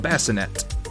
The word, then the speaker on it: bassinet: That hard T, you're like, that shouldn't be there because it's a French word. Well, guess what? It's been an anglicized word for like 1,000 years. So we can pronounce it with a hard T if we want to.